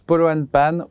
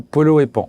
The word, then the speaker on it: Polo & Pan: On veut savoir, est-ce qu'on prononce Polo and Pan ou Polo et Pan? Ça dépend des jours, des humeurs et des gens.